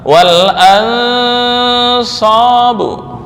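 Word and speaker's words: وَالْأَنْصَابُ: Cara membaca wal ansabu, bukan wal ansa atau wal ansa, itu juga kurang tepat. Wal ansabu. Ya ayyuhalladzina amanu innamal khamru wal maisiru wal ansabu, bukan wal ansabu atau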